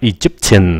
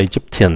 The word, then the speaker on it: Egyptian: Cái âm này âm sờ chữ she vậy đó, Egyptian. Đừng có thấy âm T, cái phát âm là Egyptian, không phải Egyptian, nó là Shin.